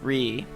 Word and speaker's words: Re: It's not pronounced Ray, it's pronounced Re.